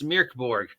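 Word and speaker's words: Mörk Borg: Because remember, we've been pronouncing it wrong. It's Mirk. Not Mork, it's Mirk Borg.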